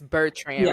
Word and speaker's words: Bertrand: don't worry about it so I want to make sure I'm saying your last name correctly it's bertran right that's correct okay perfect perfect I